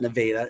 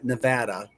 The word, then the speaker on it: Nevada: It's not Nevada. Nevada.